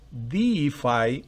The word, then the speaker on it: defy: En la segunda palabra el acento está en la primera sílaba fonética.